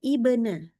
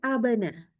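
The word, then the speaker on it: ابن: Maka ini seharusnya bacanya ibna, bukan abana. Dan juga bukan ubana.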